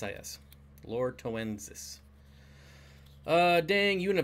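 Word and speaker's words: loretoensis: keep it's the Lord to ends this which is spelled exactly like it sounds lor e tow t OE and s is Lorca winces ah dang you in a bad mood today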